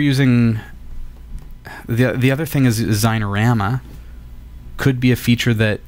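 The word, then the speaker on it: Xinerama: That's called Zynorama, and spelled with an X, X-I-N-E-O-R-A-M-M-A.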